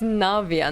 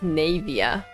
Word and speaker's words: Navia: oh she's really pretty Navia is a funny way to say her name so it's Navia not navya oh my God